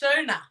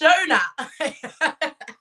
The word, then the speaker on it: Shona: Oh, Shona. It's Shona.